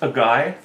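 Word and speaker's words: açaí: so do you mind actually it's pronounced a guy there's no G in it 28 deaths 21,000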